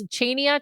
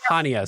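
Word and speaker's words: Chania: Chenia. Chia. I don't know how to say Chia. Okay. No. No. Ha. Hania.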